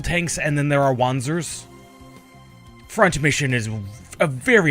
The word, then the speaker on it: Wanzer: By the way, Wanzer, there's a reason I'm pronouncing it wanzer and not wanzer.